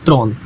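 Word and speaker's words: trente: 30 बस लर्न कर लीजिए, 30 बोलते हैं त्रोंत, ठीक है।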